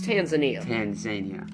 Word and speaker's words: Tanzania: Indian Ocean coast in Madagascar, Reunion Island, and Tanzania. That's Tanzania. Look at this. We cannot do this. Tanzania. Tanzania. Okay? Watch this.